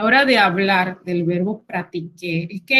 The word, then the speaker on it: pratiquer: de hablar del verbo pratiquer es que en español tiene una C después de la A. En francés esto no ocurre, entonces tengan cuidado tanto al momento de pronunciarlo. Pratiquer no lleva C, como al momento de escribirlo.